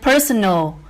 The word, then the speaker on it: personal: And personal is stressed on the first syllable.